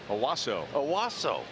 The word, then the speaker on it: Owasso: Owasso.